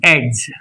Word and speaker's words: edge: D is silent before G. How? E D G edge.